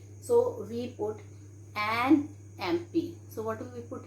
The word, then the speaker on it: MP: Okay, so here we write an MP, because children, though it is starting with consonant letter, but the sound we are having here is vowel sound, so we put an MP.